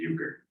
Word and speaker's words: euchre: no exception for re so one syllable the Euchre but that's the only